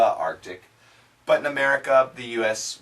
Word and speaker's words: Arctic: to say the the Arctic some people in Canada they say the Arctic but in America the